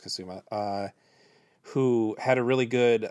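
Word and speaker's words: Kusama: So that brings us to The Invitation by Karen Kasuma, or I believe it's pronounced Kasuma, who had a really good last decade with Jennifer's Body as one of the better horror movies of the previous decade.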